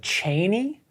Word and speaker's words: Chani: Her name, I guess, Frank pronounced like Cheney, but that just makes me think of like Dick Cheney, and I'm just not into that.